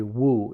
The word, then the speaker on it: wu: Master Joshu answered, Actually, Wu in Chinese, which is pronounced Mu in Japanese.